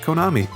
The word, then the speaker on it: Kanami: Kitchen, with its namesake Kanamin, also known as Konami, which is the best way to pronounce her name, by the way.